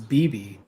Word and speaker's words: Beibei: better but like um when beibei is that how it's pronounced so i looked it up and it was bibi yeah when she was